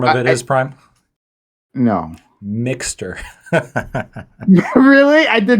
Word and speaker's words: Mx: a pre-existing thing um and it's pronounced mix um and it's originally